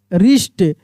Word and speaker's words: wrist: देखिए यहाँ पे रॉन्ग, रिस्ट, रैप, WR है तो W साइलेंट है, ठीक ना, र का उच्चारण हो रहा है, रैप, रेक।